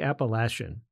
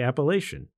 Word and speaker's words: Appalachian: that there are two distinctly different ways to pronounce the name of the trail some folks say Appalachian While others say appellation both are correct and how you say it